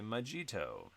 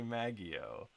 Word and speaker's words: Maggio: Nadia and AJ, Kate, Benjamin Carr, Steven, Nick, Brother Toasty Cakes, Marcellus, Jilly Jolly, Ashley Majito. Nope. Ashley Maggio. Ashley Maggio. Nailed it.